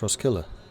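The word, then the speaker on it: Roskilde: nothing worse is birthed the d is not pronounced in ross gilda's pronounced ross killer really interesting one does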